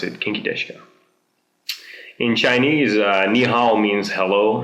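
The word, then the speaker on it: 元気ですか: this geni desuka but actually it's more like kinky deska kinky deska that's like the way to pronounce it kinky deska in Chinese ni means hello and if you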